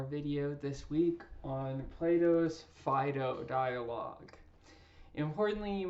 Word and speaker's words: Phaedo: Fido dialogue importantly you might have heard other people in your life say Fido or a Fido or something like that and um that's perfectly fine because this is in no way a Greek pronunciation course right so however you get there is perfectly okay I've heard many professional philosophers say a lot of different um pronunciations of this uh dialogue I'm going to be saying Fido throughout and it's a real